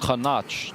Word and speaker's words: Khanach: Khanach. That's how you pronounce the name.